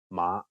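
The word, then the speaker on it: 馬: funny mistake in cantones mother is ma and horse is ma imagine someone introducing his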